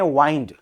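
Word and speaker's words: wind: मैंने कहा एक शब्द होता है डब्ल्यू आई एन डी। वो वर्ब होता है उसको उसको प्रोनाउंस करते हैं वाइंड।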